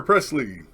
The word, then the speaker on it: Presley: how's my hair trucker Presley yes sir it's pronounced like Elvis Elvis Presley okay been elif's I